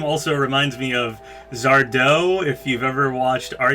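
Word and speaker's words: Sardo: also reminds me of Zardo if you've ever watched are you afraid of the dark Zardo accent on the dough I don't know if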